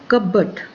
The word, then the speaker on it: cupboard: Cupboard, P is silent.